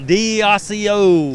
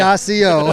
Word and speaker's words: Accio: Accio. Just like it's spelled, Okay. Accio.